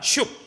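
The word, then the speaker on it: שׁוּב: 돌아오라라는요 동사가 히브리어로 쉽이에요. 발음이 한 번 발음됩니다. 슉. 돌아오라.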